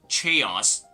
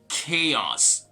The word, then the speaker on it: chaos: and by the way remember the ch sound like for example watch speech it's not going to be applicable to this word this is not gonna be chaos but rather chaos okay chaos and by